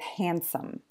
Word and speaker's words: handsome: Please note, this can also happen inside just one word, like with handsome. So because D is between the two consonants N and S, it often just disappears and you just hear handsome.